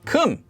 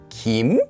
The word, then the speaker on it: 金: But it was not pronounced in China as Kim. It was pronounced closer to Kim.